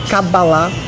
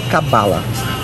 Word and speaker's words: Cabalá: Bom, veja bem, se nós transliterarmos do original em hebraico, o nome correto é Cabalá com acento na última sílaba. Mas em português se costuma falar Cabala. Não é errado. Quer dizer, eu posso dizer Cabala que não estou incorrendo em erro.